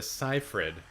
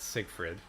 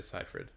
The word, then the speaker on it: Seyfried: Amanda Seyfried, not Siegfried, pardon me. I don't know how to pronounce her name, but she's from News of the World. Amanda Seyfried.